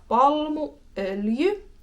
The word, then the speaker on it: palmuöljy: We have palmuöljy.